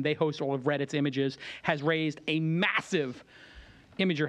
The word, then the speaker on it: imgur: all right listen uh imer which I'm told is image but I call it imer and I think everybody else calls it imer but it's image um which you guys